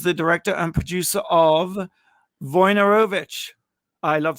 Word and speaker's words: Wojnarowicz: Wojnarowicz.